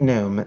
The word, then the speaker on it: gnome: you are a a gnome aren't you it's pronounced gnome the g is silent that means half almost